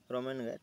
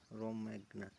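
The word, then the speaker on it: Romagna: এমিলা রোমান grand Prix 2024 title তো এমিলার রোমেনগা sorry ঠিক আছে প্রোনাউন্সে প্রবলেম হইলো মোর এটা কোন লেখা আছে রোমেনগা রোমা রোমেগনা সরি হু ওয়ান দা এমিলা রোমাগনা গ্র্যান্ড প্রিক্স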